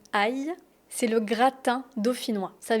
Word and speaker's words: ail: Attention à la prononciation du mot aï.